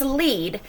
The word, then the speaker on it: lead: way down the path so the first one was lead this one is lead and lead is doing something so that is a verb and our last set